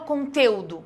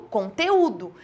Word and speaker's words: conteúdo: fortes separa também conteúdo Eu não falo conteudo eu falo conteúdo então aqui eu tenho